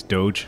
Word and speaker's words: Doge: Is Isaac wearing a Space Doge shirt? Is that a meme shirt he has on? No. He's back in the space jacket, actually. Yeah, and by the way, it's pronounced Doge. Get it right. Dog.